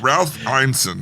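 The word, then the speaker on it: Ralph Ineson: Ralph Einson, is that how you say it?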